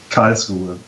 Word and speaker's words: Karlsruhe: You're going to have to tell me how to pronounce this. I will send it to you. There. Karlsruhe. Yeah. I don't know what that means. Also Karlsruhe, because it's a studying town and there are only guys.